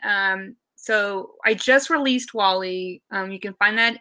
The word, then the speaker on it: Wa11y: designer you can um so i just released wall-e um you can find that in the repo and it's spelled wa11y for those unawares accessibility kind of